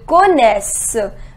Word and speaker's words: connaissent: Ils connaissent. We do not pronounce E-N-T. Ils connaissent.